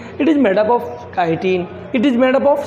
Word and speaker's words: chitin: काइटिन words पे pronunciation करना चाहूँगा, काइटिन।